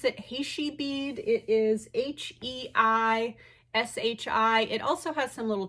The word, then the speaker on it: Heishi: So anyways, this item is a vintage, I'm not sure how you pronounce it, Heishi bead. It is Heishi.